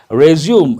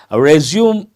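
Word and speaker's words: résumé: Resume, actual pronunciation, a French word, resume.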